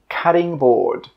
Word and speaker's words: cutting board: This is a cutting board. Cutting board. I know it's spelt with a T, but when we pronounce it, we actually use a D sound.